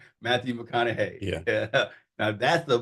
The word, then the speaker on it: Matthew McConaughey: Matthew McConaughey.